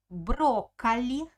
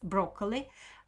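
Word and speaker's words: брокколи: of cabbage ketai skaya pusta next word is broccoli broccoli broccoli it's broccoli the same english word so broccoli broccoli the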